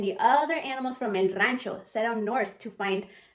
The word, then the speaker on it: Rancho: what does the word Rancho mean it means and it sounds like the word Ranch but not the salad dressing it means a feel